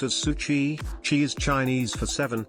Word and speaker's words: SU7: and it's finally here it's called the su7 pronounced as Suchi she is Chinese for seven and with it